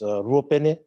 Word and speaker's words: Ruopene: If you're wondering how I pronounce my surname, it's Ruopene.